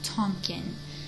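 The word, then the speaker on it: Tonkin: of water called the Gulf of tonen and tonin is spelled t n k i n so essentially um soon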